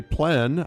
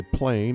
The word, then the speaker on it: plein: The French say plein, others say plain. It doesn't matter how you say it.